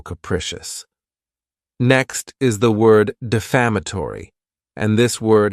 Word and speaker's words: defamatory: next is the word defamatory and this word has five syllables and the stress is on that second syllable defamatory it's not a